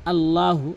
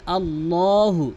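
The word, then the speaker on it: اللهُ: এখানে অধিকাংশ লোক এই মার করে দিয়েছি, এই জায়গায় বলে আল্লাহু লা ইলাহা। আল্লাহু আল্লাহু বলা যাবে না, বলতে হবে আল্লাহু। এখানে আল্লাহ শব্দ পুর হবে।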